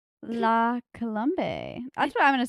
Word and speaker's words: La Colombe: from Trader Joe's love that place my I pronounce it wrong la colbe la colombe that's what I'm going to say I'm going